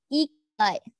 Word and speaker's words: ikigai: We pronounce Ikagi as the Ikigai.